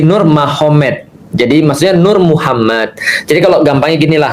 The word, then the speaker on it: Nurmagomedov: Tapi bacanya bukan Habib Nurmagomedov. Nur Muhammad kan seperti itu. Kalau kita tahu artinya ma, berarti di sana Muhammad jadi Mahomet. Jadi tulisannya Magomed. Tapi bacanya Mahomet. Kan gitu kan ya. Jadi Nurmagomedov itu jadi Nur Mahomet.